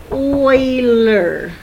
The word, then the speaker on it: Euler: So a Swiss mathematician, Leonard Euler, this is pronounced Euler, discovered a relationship among the number of faces, vertices, and edges of any polyhedron that he took a look at.